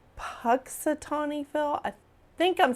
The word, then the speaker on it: Punxsutawney: I say his name wrong all the time. It's Punxsutawney Phil.